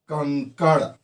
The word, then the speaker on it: कंकड़: अब जैसे एक देखिए, हम लिखते हैं कंकड़, ठीक, कंकड़, हाँ, कंग अंग अंग, उच्चारण में भी आता है कंकड़, हाँ।